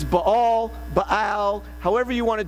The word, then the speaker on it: Baal: Lord and followed the Baals, the Baals. Just a reminder, a simple thing, but in Hebrew, every letter is pronounced. And so even though in English we want to shove those two A's together, technically you would pronounce both A's.